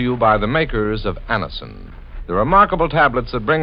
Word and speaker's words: Anacin: It's spelled A-N-A-C-I-N.